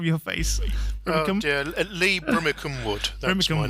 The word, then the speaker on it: Brimmicombe-Wood: I think I've mispronounced just from your face. Oh dear, Lee Brimmicombe-Wood.